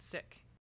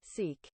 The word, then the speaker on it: Sikh: all my life wait the correct pronunciation of the word is with a short eye and an aspirated K it sounds most like the word English word sick okay sick sick I'm